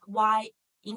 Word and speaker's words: yin: The first one, in, instead of replace I with Y, this one we just put Y in front, but the pronunciation is still the same, still in, yin.